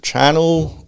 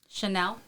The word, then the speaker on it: Chanel: Called Channel No. 5. Chanel.